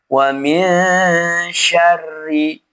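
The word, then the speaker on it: وَمِنْ شَرِّ: Cara membacanya nun sukun ini dibaca ghunah dengan cara menyamarkan bunyi nun dan diarahkan ke huruf setelahnya. Posisi lidah di bawah. Wamin sya sya wamin syarri.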